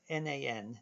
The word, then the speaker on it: NaN: representing what we call not a number n a n then again we pronounced that nan so nan is something